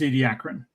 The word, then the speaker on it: Ediacaran: The pronunciation I've always heard is Ediacaran.